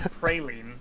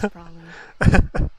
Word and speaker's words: praline: it's definitely not praline. That's an Americanism.